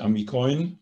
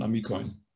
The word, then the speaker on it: amikojn: Und wie gesagt, die Betonung bleibt auf dem I. Auf der vorletzten Silbe wandert nicht auf die letzte. Also nicht Amikoin, sondern Amikoin.